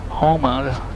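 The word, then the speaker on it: Houma: Hotel Echo Homa. That's how it's pronounced.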